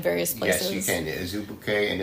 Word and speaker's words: Azubuike: I can't pronounce this word. What is the name of it? Azubuike.